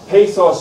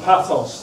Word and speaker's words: pathos: There should be logos, ethos, and pathos or pathos. There are two ways of pronouncing that.